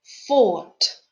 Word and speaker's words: thought: noticed in the text the letters gh in the words fight at fourth are silent let's practice the pronunciation of words with silent gh listen and repeat hi hide sight sigh thought thought caught i'm positive